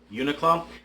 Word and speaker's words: Uniqlo: you're not familiar with the brand Yoona Club I think I'm pronouncing it right uni QL oh they make really warm